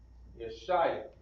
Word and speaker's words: Yeshaya: Isaiah is pronounced Yeshaya.